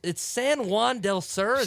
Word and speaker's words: San Juan del Sur: It's San Juan del Sur.